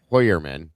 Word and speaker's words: Heuermann: I'm a little weirded out by by Heuermann or what name's actually pronounced Heuermann sorry.